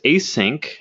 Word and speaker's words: ACINQ: there with zero coin the next story is a sink I believe this I say it's spelled ACI NQ they lost their code signing